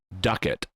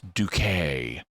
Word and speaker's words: Ducat: But her name is spelled Ducat, and like the unit of money in some European nations. And so the doctor initially, more than once, pronounces her name Ducat. But then, yes. But then it's like, oh no, it's Ducat.